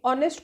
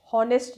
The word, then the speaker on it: honest: अब हमने पहले भी बात की हुई है, जब देखिए ऑनेस्ट को भी प्रोनाउंस एज ओ से स्टार्ट करते हैं, नॉट एच, हॉनेस्ट नहीं होता।